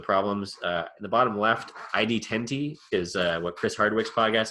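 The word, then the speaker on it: ID10T: in the bottom left I D 10 T is what Chris Hardwick's class is now called it looks like it says idiot that's what supposed to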